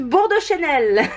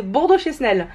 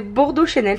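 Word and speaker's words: Bordeau Chesnel: Et attention, je vais bien le prononcer parce que vous me l'avez dit. Des rillettes Bordeaux Chanel. Parce que moi je disais Bordeaux Chesnel. En fait c'est des Bordeaux Chanel, ça se dit.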